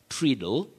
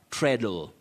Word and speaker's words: treadle: word is pronounced as treadle treadle that a is silent if you can remember a word like bread or breast there is an a but you don't pronounce it you say bread not